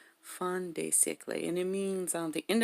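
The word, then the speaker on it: fin de siècle: I'm sure it's Fin de Siecle. Fin de Siecle. Fin de Siecle. That's how you say it. Fin de Siecle, and it means the end of the century, right?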